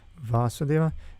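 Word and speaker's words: Vāsudeva: It's spelled differently with a that it's long. With this line on top, it means it's pronounced long, and it's a different word.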